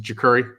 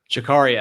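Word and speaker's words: Jacurri: obviously you know um is it jakuri did I pronounce that right Jakari I I struggle with it too I got it wrong on the podcast yesterday so Jakari I mean I mean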